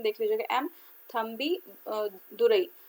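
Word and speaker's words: Thambidurai: ठीक है, सॉरी, ये एम तंबुदुरई, ठीक है, ये डेप्टी स्पीकर है 16 लोकसभा के, तो इनका थोड़ा सा प्रोनाउंसिएशन देख लीजिएगा, एम थम्बी दुरई।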